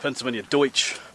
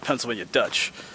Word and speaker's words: Pennsylvania Deutsch: It's actually, it'd be better pronounced Pennsylvania Deutsch, which means German, I think. But it just gets butchered and called Pennsylvania Dutch, but it's not actually Dutch.